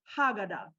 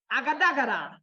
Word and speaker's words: Aghadaghada: Even she didn't pronounce it right. Let's do it the African way. Agadagada.